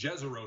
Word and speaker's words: Jezero: sent from jezero crater i said it wrong last week it's jezreel they say so it's about a